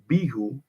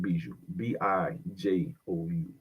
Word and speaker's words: Bijou: undistinguished engagement with the bihu Bijou at The Bijou Theater on Broadway in 1907. I'm gonna pronounce it b-i-j-o-u Bijou a year later they